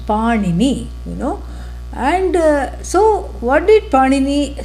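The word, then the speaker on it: Pāṇini: Not to be confused with the bread that goes by the same name. Different pronunciation. Panini, And so what did Panini say?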